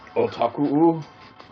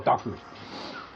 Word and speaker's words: otaku: Wait, isn't it pronounced otaku? Oh, otaku.